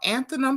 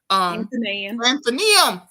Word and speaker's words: Athenaeum: at Coastal Carolina University, and also I'm gonna pronounce it all kind of wrong. Athenaeum Press. Athenaeum. Did I say that right? Athenaeum.